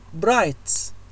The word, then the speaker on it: bright: bright نفس الشيء الجي اتش لا تلفظ.